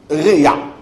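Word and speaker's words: רֵעַ: Réa. Comme ça se prononce.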